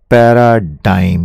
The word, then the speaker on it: paradigm: सीईए साहब जो economic survey बनाते हैं, उनका कहना है India is undergoing a पैराडाइम shift. समझते हैं इसका मतलब? इसका प्रोनाउंसिएशन है पैराडाइम।